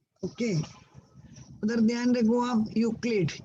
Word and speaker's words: Euclid: Then Euclid, E is silent over there. Okay. उधर ध्यान रखो आप. Euclid, E is silent.